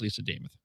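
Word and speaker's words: Lisa Demuth: She told us all that it rhymes with Joe Namath. So if you can remember Joe Namath, you'll remember Lisa James. Okay, so I had it right. So it is Lisa Namath.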